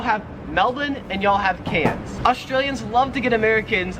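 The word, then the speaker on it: Cairns: So y'all have Melbourne and y'all have cans. Australians love to give Americans a hard time for mispronouncing these cities. We call Melbourne Melbourne and we call cans Kairens cuz there's like an R there.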